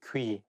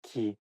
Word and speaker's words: 귀: You know, when you talk in a formal situation, you have to make sure that you say 귀, not 기, 귀여운.